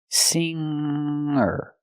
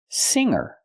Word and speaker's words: singer: G in this word I have to use a nasal sound singer singer not singer but singer example she's a good